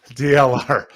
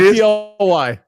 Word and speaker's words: DLR: Just say it. DLR Vinyl Product. It's not DLY. I know it. I still like DLY.